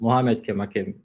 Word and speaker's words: Mohamed Khemakhem: My name is Mohamed Khemakhem, Mohamed Khemakhem, when you pronounce it in French.